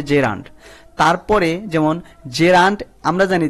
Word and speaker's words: gerund: তাকে বলা হয় জেরান্ট এটা অনেকেই কিন্তু জিরান্ট বলে এটা আসলে ভুল উচ্চারণ প্রোনাউন্সিয়েশন হবে জেরান্ট তারপরে যেমন জেরান্ট আমরা